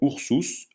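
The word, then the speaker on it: ursus: exemple mousse la souris u se prononce ou comme dans ours jamais u comme dans perruche exemple oursous l'ours V se prononce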